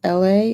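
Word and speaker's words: Elhae: Like there's an Atlanta artist, his name is LA, and it's spelled E L H A E.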